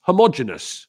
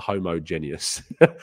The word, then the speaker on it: homogenous: to correct my pronunciation is it homogenous homogenous is how you pronounce it that does make a lot more sense there you go not homogeneous homogeneous there you go lovely